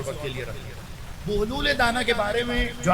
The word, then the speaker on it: بہلول: ہم اسے بہلول کہہ رہے ہوتے ہیں یا بہلول کہہ رہے ہوتے ہیں، وہ ہمارا تلفظ ہے، لیکن درست تلفظ جو ہے وہ بہلول ہے، بے پر پیش کے ساتھ۔ بغداد میں ان کا